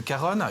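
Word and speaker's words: cajón: pour ceux qui découvrent le Caron qui s'écrit comme cajon hein C a j o n et bien c'est un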